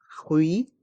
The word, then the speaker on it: fruit: le s est mué fruit le thé de fruit est mué un jus de fruits